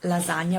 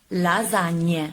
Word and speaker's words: lasagne: Not la lasagna, but le lasagne. But I didn't mark it because the majority of you said lasagna. So I just correct when you pronounce correctly the sound ñ. So lasagna, not lasagna, that I didn't mark because I'm so good, but lasagna. So the correct pronunciation is lasagne.